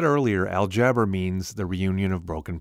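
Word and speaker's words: الجبر: When you look at the root of the word algebra, it comes from an old Arabic word pronounced aljabr.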